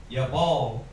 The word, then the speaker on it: Yabal: So it's Yah-ba-la. That's how you spell it for you Hebrew scholars. Yabal is how you say it.